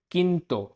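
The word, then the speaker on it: quinto: अब third word है किंतो, किंतो क्योंकि क्यू यू आई की साउंड होती है की, तो किंतो मतलब फिफ्थ।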